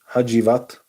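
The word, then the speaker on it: Hacivat: Hajivat.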